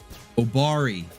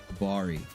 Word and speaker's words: Obari: Obari, that's what it was. Okay, I was missing a syllable there. Obari, that's who it was.